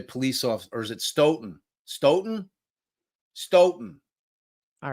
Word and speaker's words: Stoughton: off or is it ston ston ston all right free bird this it ston ston come on I was wondering that before I went in but we all agree that phonetically it's stouton correct I mean I can't